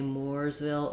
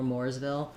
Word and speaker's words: Mooresville: Moors Mooresville um yeah it would be interesting to go and ask locals there if they say Mooresville or Mooresville but generally more is more of an East Coast pronunciation for that name and more is more of a Midwest West Coast pronunciation great questions thank you